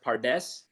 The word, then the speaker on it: pardes: It's pronounced pardes in Hebrew, and it represents four different levels of interpretation.